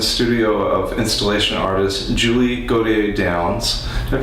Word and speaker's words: Gautier-Downes: of installation artist Julie go to a dance now pronounce that right close could you say it in your French Julie KJ dance perfect and you're also